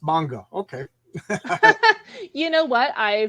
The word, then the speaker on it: manga: All of a sudden, these were big sellers, and then I think right now, with I shouldn't say nobody, but manga is pronounced manga.